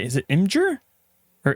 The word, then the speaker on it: Imgur: Imgur Imager how do you say is it Imgur or imager it's image imager it's Imager with about the